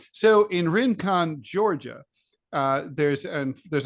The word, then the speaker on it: Rincon: if you pronounce this r-i-n-c-o-n is it Rincon I'm going to assume yeah very good wow in con Georgia or rassonne if we were in French but we we're not so in Rincon Georgia uh there's um